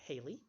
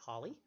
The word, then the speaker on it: Halley: heard it mispronounced as Hallie or Halley both of those are the wrong pronunciation it's supposed to be Holley he is of course